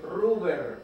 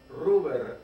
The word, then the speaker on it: Ruber: Ruber. Ruber. Ruber, no. Ruber. ¿Cómo se escribe? R-U-B. R-U-B, era rojo en latín, cosas de mi padre.